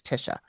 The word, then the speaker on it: Tysha: It is spelled Tysha though. Okay, like Tisha, but it's Tisha.